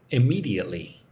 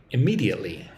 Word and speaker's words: immediately: We need to carry out the plan immediately. Say that word with me. Immediately. How many syllables? I mely. Five syllables. Put the emphasis on the second syllable.